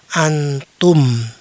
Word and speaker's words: antum: Alif, nun, ta, dan mim, maka selalu dibaca "antum". Ya, di sebelah kiri adalah cara membacanya, itu berarti kalian bertiga adalah laki-laki.